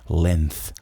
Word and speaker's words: length: Porque a gente fala com a língua entre os dentes da frente. Length, length. Só que tem um s.